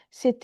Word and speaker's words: c'est: Make liaison here. C'est ta. T is pronounced. Otherwise, independently, the T is not pronounced. It's c'est. And it just sounds like c'est en anglais. But when there is a vowel next to it, so c'est ta.